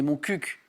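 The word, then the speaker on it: Montcuq: C'est chouette de pouvoir dire mon cul à la télé.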